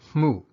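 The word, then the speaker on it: မှု: a verb or adjective into a noun it's pronounced mu so in the first example i'll use the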